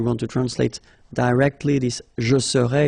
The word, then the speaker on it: serais: to translate directly this je serais, it's I would be, okay? But then in French we've got only one form like that. Remember, so AIS, but then you don't pronounce the final S.